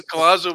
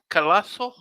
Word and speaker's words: Collazo: It was Oscar Collazo we're talking about, but we're talking about his pronunciation. So is it Oscar Collazo? Collazo.